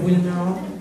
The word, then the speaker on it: Wilmer: Bonjour, je m'appelle Wilmer. Oui. Wilmer? Wilmer. Wilmer. Comment ça s'écrit?